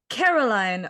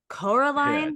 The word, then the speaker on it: Coraline: like even he's like Caroline Oh Caroline whatever your name is but these mice were talking about someone named Coraline they keep mispronouncing go through a door